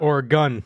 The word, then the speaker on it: Oregon: Or a gun.